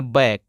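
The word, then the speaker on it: back: बी ए सी के बी ए सी के इसको पढ़ना है बैक तो क्या है यहां पे सी साइलेंट रहता है इसी प्रकार से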